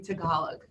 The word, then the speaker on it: Tagalog: And we're also adding Tagalog. That's the way you pronounce yes.